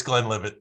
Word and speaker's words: Glenlivet: My go-to is Glenlivet, and I could be pronouncing it wrong, but it is what it is. It's Glenlivet.